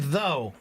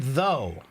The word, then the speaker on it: though: cha so uh though the word though has o u g and we don't pronounce those letters right and that's such